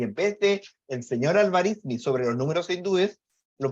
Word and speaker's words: Al-Khwarizmi: Y el libro se llama En el cálculo de números hindúes, en inglés obviamente, escrito por el señor Al-Biruni, Al-Khwarizmi, creo que se pronuncia, Al-Khwarizmi, del 825, que traducido al latín se diría,